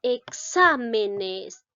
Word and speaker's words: exámenes: Siguiente, dice exámenes. Esta palabra, ¿cuántas sílabas tiene? 1, 2, 3 y 4 sílabas. Ahora observamos dónde lleva acento, es decir, mayor fuerza de voz. Exámenes. En la sílaba xa.